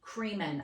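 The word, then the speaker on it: Kremen: a guy named Gary creeman I remember that his name rhymes with semen Siemens it was in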